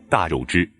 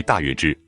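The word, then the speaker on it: 大月支: 从 50 年代以来的中小学课文中，都将大月支读为大肉支。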